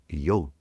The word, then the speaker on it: yog: When you go to India, you'll hear people pronouncing the word yo. Yo, y o g. The a is elided.